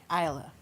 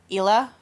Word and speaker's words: Aila: Isla. Isla. Yeah. And how do most people pronounce it the first time they see it? Oh, God. So, very common is Ila or Ayla.